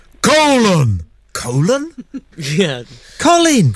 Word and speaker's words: Colin: called Colin Powell except they don't pronounce it like that do they they actually make him sound don't they like a gladiator colon colon yeah Colin it's